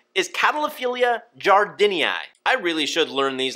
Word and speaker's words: jardinei: Catalophilia jardinii. I wanted to say jardinei, which is like some weird French-Spanish pronunciation, so I had to look it up.